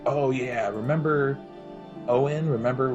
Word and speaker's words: Eoin: um so it looks like Eon but it's pronounced Owen and so he's Owen spell Sage and he